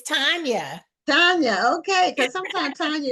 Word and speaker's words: Tanya: So I want to find out, is it pronounced Tanya or Tanya? It's Tanya.